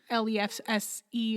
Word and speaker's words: lefse: should look it up it's spelled weird though it's like l-e-f-s-e or l-l it ends in an e like lefse yeah but uh yeah